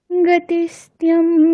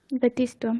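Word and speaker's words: गतिस्त्वम्: বিদ্য না বৃত্তির মমাইবা গতিষ্ঠম গতিষ্ঠম তমেকা ভবানি গতিষ্ঠম গতিষ্ঠম ভবানী হুম ঠিকই আছে আচ্ছা গতিস্তম না গতিস্তম তৈ তার উচ্চারণটা কেমন হবে ঠিক আছে ম্যাডাম গতিস্তম হ্যাঁ আচ্ছা ঠিক তাহলে একই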